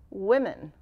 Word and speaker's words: women: with the it pronunciation can you think of any examples where o has the e pronunciation let's think of hmm what word often comes with men women and how is women spelled w o so the o would be like the i the e sound and the last sound